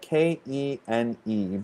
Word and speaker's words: kene: So that's spelled Kene, but they're the way that it's pronounced kene.